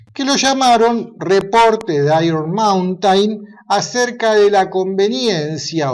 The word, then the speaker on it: Iron Mountain: Se pronuncia Iron Mountain.